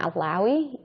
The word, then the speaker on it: Alawee: you please tell us your name and also spell it out for us my name is alawi and spell like last name a-l-a-w-e okay